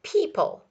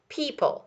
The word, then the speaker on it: people: to spell it, but people, people. The O is silent, we don't hear it, people.